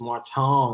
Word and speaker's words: Marton: Because I've been saying Marton. Whatever. That sounds great. Seriously, I'm telling you, like when I got to LA, like a couple of friends started pronouncing with this Marton, and I was like, whoa, I like that.